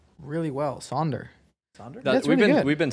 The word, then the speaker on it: Sander: You pronounce my name really well, Sonder. Sonder? That's we've really been good. we've been saying it a lot actually. Yeah, saying it a Well, lot. people call me Sanders or like Saunders, but you're pretty But good.